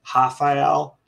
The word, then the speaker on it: Rafael: You don't pronounce the R, so it's actually Rafael.